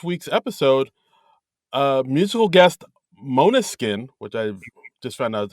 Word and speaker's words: Måneskin: about uh this week's episode uh musical guest Monuskin, which I just found out is how you pronounce it, right?